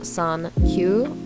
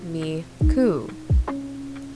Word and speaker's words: 39: 39 is often associated with Miku this is because 39 in Japanese can either be pronounced as San Q or Miku miscrediting songs a lot